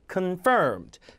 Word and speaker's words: confirmed: confirm이 아니라 강세가 없죠. 강세가 뒤잖아요. 그러면 confirmed, confirmed, confirmed, conducted.